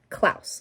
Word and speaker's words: Claus: it's spelled like claws it's pronounced klaus like rhymes with house um so they're like